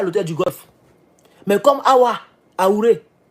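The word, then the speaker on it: Ehoura: Mais comme Aouré, si je prononce bien, Eoura, voilà, merci.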